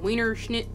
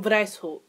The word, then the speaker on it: Weishaupt: Adam Wienerschnitt. White. Oh, Lord. Is that German? Wow, it is German. Wow, I should probably fucking know that. So, the founder was actually Adam Weishaupt.